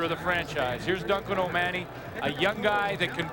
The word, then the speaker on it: O'Mahony: It says O'Mahony, but he pronounces it O'Mahony.